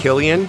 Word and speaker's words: Cillian: I mean- It's Killian. Yeah, Yeah. Cillian. Cillian. Okay. He's got beautiful eyes. I never try and pronounce it because I'm like, oh, if I Man.